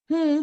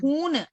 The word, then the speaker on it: हूँ: Okay, நஹி நஹி மே menu பாத்தீங்கன்னா மைன் அப்படின்னு வந்து ரொம்ப அழுத்தி அந்த டாட்டை ப்ரொனவுன்ஸ் பண்ணக்கூடாது. மே அவ்வளவுதான். ஓகேவா? அது வந்து அப்பதான் கொலோக்கியல்ல கரெக்டா இருக்கும். ஓகே, மே அக்கௌண்டன்ட் ஹூம். ஹூம் பாத்தீங்கன்னா ஹூன்னு அப்படின்னு பண்ணக்கூடாது.